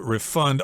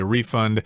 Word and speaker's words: refund: Usually the accent is on the second syllable when it's a verb, refund, although you will hear people say refund both as the noun and the verb form.